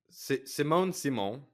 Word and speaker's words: Simone Simon: I'm not really sure how it's a sequel because it's like Simone Simon, which is, I looked up the correct pronunciation of her name, is also in it,